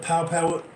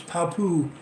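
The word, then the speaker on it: Papua: have it pronounced right I've been pronouncing it wrong the entire time I've been on the air I've called it powpow Indonesia it's not it's Papu Indonesia today over there we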